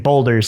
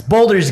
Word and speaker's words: Baldur's: But yeah, they just randomly released it, and I'm just gonna keep saying Boulders. It's Baldur's Gate. It's not a bald spot, it's a bold spot.